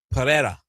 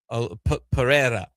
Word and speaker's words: Pereira: Pereira. The R is there. I know they may not be saying the R on the TV broadcast, but it is there. But it's a little bit of the Pereira.